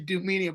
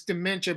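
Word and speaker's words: Doomentia: But it's spelled like Doom. That's why I always say Dumenia, but it's Dementia, but it's D-O-O. Dementia.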